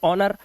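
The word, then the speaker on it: honour: ऐसे ही ऑनर।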